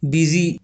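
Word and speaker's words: busy: बिजी यह थोड़ा tricky है किंतु इसमें भी यू साइलेंट रहता है।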